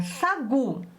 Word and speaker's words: sagu: A próxima palavrinha, sagu. Olha a sílaba tônica. Sagu. A sílaba tônica é o gu.